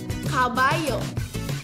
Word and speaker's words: caballo: In Spanish, double L become Y. Caballo.